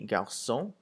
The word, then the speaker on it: garçons: So if you look at the example of le garçon and les garçons, garçon without an S and garçon with an S sounds exactly the same.